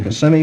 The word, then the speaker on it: Kissimmee: Well, it's pronounced Kissimmee, Florida.